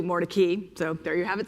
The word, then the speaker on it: Mordecai: this book is that the family at some point changed the pronunciation of its name from what we might assume the Hebrew translate to Hebrew pronunciation of Morai to Mori.